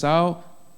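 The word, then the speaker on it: Esau: all yeah it's how and Jacob so it's how that's how you pronounce it in English so it's au was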